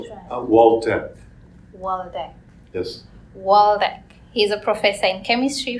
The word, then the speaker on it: Waldeck: privileged to have Dr David waldreck am I pronouncing Israel Walter yes waldek he's a professor in chemistry from uh the